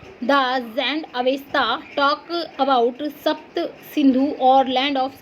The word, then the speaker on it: सिंधु: है, pronunciation Sanskrit word सिंधु as Hindu. अगर Persian की बात करें तो वो जब उच्चारण करते हैं संस्कृत भाषा के सिंधु का, तो वो क्या बोलते हैं? हिंदू बोलते हैं सिंधु को।